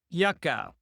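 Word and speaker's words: Yuka: A very good app, by the way, to help you navigate that is called Yaka. It's spelled Y U K A.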